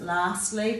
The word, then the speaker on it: lastly: that r so it's we do pronounce it lastly but there is no r there it's the a making